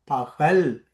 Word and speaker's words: பகல்: அடுத்த வார கா பக்கல்ன்னு சொல்ல மாட்டான், பகல்.